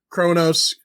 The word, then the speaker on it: Kronos: This whole episode is going to be us fucking up pronunciations of That's fine. It's Kronos, Kronos.